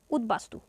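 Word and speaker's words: উদ্বাস্তু: এর উচ্চারণ হবে লম্ব উৎ উপসর্গের সঙ্গে বফলা যুক্ত হলে ব এর উচ্চারণ বজায় থাকে যেমন উদবাস্তু যদি উৎ উপসর্গ থাকে এখানে উৎ উপসর্গ আছে তাহলে ব ফালা এর উচ্চারণ বহাল থাকে তাহলে আমরা ব ফালা উচ্চারণ এখানে করব উৎ বাস্তু তারপর আছে উদ্বেল এখানে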